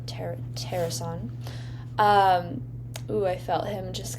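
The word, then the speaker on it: Taerson: And I heard Terasan kind of uh spelled like T A E R S O N. Ter Terasan.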